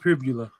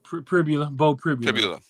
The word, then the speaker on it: Pribula: I think it's Pribula. Bo Pribula.